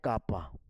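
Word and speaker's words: κ: उसी प्रकार यह जो 1/ है इसको बोलते हैं कापा। कापा प्रोनाउंसिएशन ध्यान देना कटपा बाहुबली वो नहीं है कापा।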